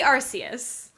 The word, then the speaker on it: Arceus: legends of arceus yes it should be arceus it's and it's it's one of those things where like phonetically in english it's obviously arceus because that's what makes sense yes and it's like